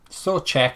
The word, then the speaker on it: Souček: Is that how you pronounce his name? Souček, according to the Slavia Prague English account.